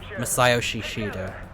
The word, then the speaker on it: Masayoshi Shido: Okay, that's how you say his name. Masayoshi Shido. Masayoshi Shido. Not like Yoshi.